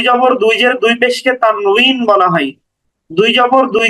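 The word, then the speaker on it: تنوين: উচ্চারণ করছি মূলত ওখানে উচ্চারণটা হচ্ছে ওয়াও দিয়ে তানুইন এরকম উচ্চারণ এই তানুইন এটার শাব্দিক অর্থ হচ্ছে নুন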